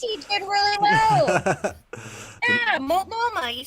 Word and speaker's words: Multnomah: Yeah, Multnomah, you said it right.